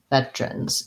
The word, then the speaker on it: veterans: that sse um but often americans will say veterans veterans in which case veterans still for syllable stress but if we reduce and eliminate that middle syllable we change instead of a flap we change to t so because the tr together makes it um more of a voiceless t veterans veterans day or veterans day whichever one is easier